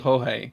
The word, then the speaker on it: Jorge: We've got a guy at work, and he's called Jorge, but of course 90% of the Brits don't realize that, and they all call him George, and it's just really funny.